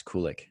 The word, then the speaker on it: Kulyk: to finally have on the show kulick welcome to the show man hey